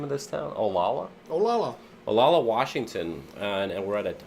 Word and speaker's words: Olalla: Olalla, Washington, and we're at a home tiki bar called the Fuzzy Smudge.